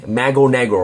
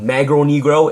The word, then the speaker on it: Mago Negro: It's not Magro Negro, it's Mago Negro. I believe that's how you pronounce it, and that means Black Magician in Spanish and Portuguese.